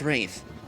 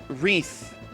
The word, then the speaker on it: Wraith: Okay, so here we are with the first battle against Wraith. Or rather, Wreath is apparently how her name is supposed to be pronounced. I apparently was pronouncing it wrong the entire game.